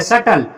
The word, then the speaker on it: subtle: अगला देखते हैं बेटा, SUBTLE, बी के तुरंत बाद टी आया, इसी वजह से बी साइलेंट रहेगा, बी को पढ़ा नहीं जाएगा। इसको पढ़ेंगे सटल।